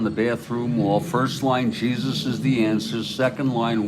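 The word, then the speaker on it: Jesús: my parents and say, this guy's name is Jesus. What is this? And my mother said, no, it's pronounced Jesus.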